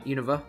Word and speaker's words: Unova: which are really like this region oh yeah Unova that's how you pronounce it and they get and pokemon black